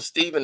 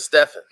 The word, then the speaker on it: Stephen: to come there yeah they actually pronounced step stefen they think they called him Stephen they kept calling him Stephen instead of stefen all right Stephen Curry